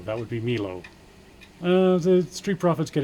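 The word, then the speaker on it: Melo: And I know they pronounce it mellow, but it's spelled M E L O. That would be Milo.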